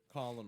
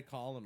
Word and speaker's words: column: Colonel like a corn silent letters I hate that word column Oh because you want to say Colin --all don't you well